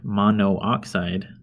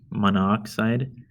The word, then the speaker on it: monoxide: The reason it's not monooxide is because that kind of sounds strange, monoxide, and it creates a diphthong where two vowels are within the same syllable. So you eliminate one of them, and then it's simply dichlorine monoxide.